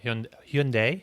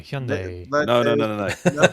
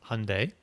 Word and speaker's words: Hyundai: not saying it right how do you say Monday or Sunday Monday Sunday there you go but I want to throw a little Y in there Hyundai okay okay not how